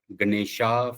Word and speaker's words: Ganesha: No, basically in English you put letter A at the last, so the pronunciation becomes Ganesha for Western folks, but in India the actual pronunciation is Ganesh.